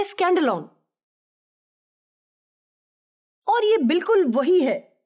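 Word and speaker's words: σκάνδαλον: لفظ سے ماخذ ہے۔ اس لفظ کا تلفظ ہے اسکینڈلون، اور یہ بالکل وہی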